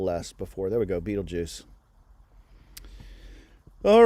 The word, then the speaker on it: Betelgeuse: So that's Betelgeuse. There's some discrepancy about how you pronounce that. I've heard Betelgeuse before.